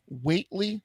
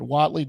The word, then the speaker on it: Whately: local business owners in weightly I don't know if that's how you pronounce it Watley w-h-a-t-e-l-y weightly Massachusetts that deserve credit I'm